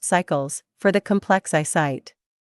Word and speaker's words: S1QEL: They call these molecules site-selective electron leak suppressors, SELs-S3QELs, pronounced sequels, for the complex 3 site, and S1QELs, pronounced cycles, for the complex I site.